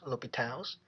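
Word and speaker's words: L'Hôpital: sandwich sandwich theorem another one we gonna use l'hopital's rule remember this is pronounced l'hopital's the third one we're gonna use a theorem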